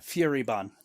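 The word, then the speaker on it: Furibon: Um I I know it's fury like angry, but I don't know if it's bone or born or bon. Fury bon.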